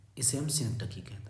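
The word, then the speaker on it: synecdoche: बहुत सारे इसे टीचर भी पढ़ते हैं सिनकडॉश, ध्यान रखना। ये इसका प्रोनाउंसिएशन है सिनकडकी, यही प्रोनाउंसिएशन करेक्ट है, ये सिनेकडॉश नहीं है, ध्यान रखना है।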